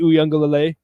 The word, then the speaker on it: Uiagalelei: I'm going with DJ Uiagalelei and saying that Clemson gets it done.